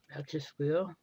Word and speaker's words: axis: 엑시스고요. 복수형은 엑시즈죠. 그래서 복수형이 되면 도끼하고 그 철자도 같고 발음도 같아요.